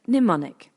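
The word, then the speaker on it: mnemonic: points out each is a pneumonic pronounced pneumonic a learning Aid strategy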